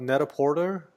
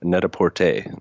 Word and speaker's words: Net-a-Porter: oh yeah it's um it's actually I that's how I pronounced it first - but it's pronounced very sophisticated ly Netta port a I don't I don't I don't mean to call you out because I said the exact same it's our that's our American version of a net-a-porter version